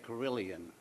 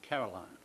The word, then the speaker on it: carillon: In the South, we say carillon, but the proper pronunciation is carillon.